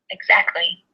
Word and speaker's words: exactly: is a word that's spelled with a t but not usually pronounced with the T exactly is what I say